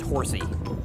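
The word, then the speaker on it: Horsea: of sorts like uh it's probably pronounced horsey it's h o r SE EA there is one more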